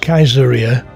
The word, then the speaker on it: Caesarea: here's my shot i suppose in those days caesarea would have been pronounced kaiseria in latin that's where the german kaisers got their names the city was populated